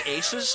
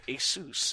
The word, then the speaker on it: Asus: Like, I always thought it was Asus, but then, like, you call them up and they're like, hey, welcome to Asus.